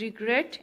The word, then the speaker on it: regret: Second syllable पे stress देते हैं, विच मीन्स ग्रेट पे.